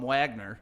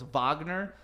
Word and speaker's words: Wagner: And then, well, also, we kept calling him Wagner. Yeah, we did, because that's how it's spelled. Wow. It's Wagner, but of course he's German, so it's Wagner.